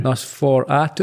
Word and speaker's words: NOS4A2: This one here, I'm not sure how to read it or pronounce it. NOS4A2. I imagine that stands for something. Or Nosferatu. Nosferatu.